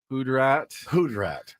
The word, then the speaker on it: hoodrat: The one that got me was Hoodrat. Hoodrat. Like, Ben, it's hood rat. Oh, Hoodrat. Hoodrat. I'm putting the emphasis on the wrong syllables That's right.